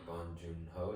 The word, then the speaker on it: Bong Joon-ho: I'm gonna go with Parasite by Bong Joon-ho.